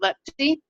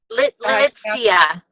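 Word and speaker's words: Litsea: I want to know more about the two new oils, the Manuka oil, and you pronounce it Letzi? Litzia.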